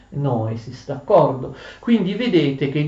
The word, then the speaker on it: noesis: Noeo o noema, anche hanno l'accento davanti, ma noesis ha l'accento all'indietro. È un grave errore pronunciare noesis, si dice noesis, d'accordo?